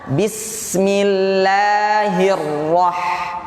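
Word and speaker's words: بسم الله الرحمن الرحيم: roh-roh loh huruf ro ini kan tebel ro roro tebel nah dia bertemu dengan huruf H yang tipe tipis jadi bacanya roh Hai coba roh jadi bacanya Bismillahirohmanirohim bismillahirohmanirohim 123 Bismillahirrohmanirrohim kita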